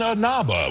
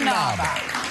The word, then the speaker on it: Inaba: And from Dancing with the Stars, Carrie Ann Inaba will be here. Carrie Ann Inaba. Yeah, I how do you say that? Carrie Ann Inaba.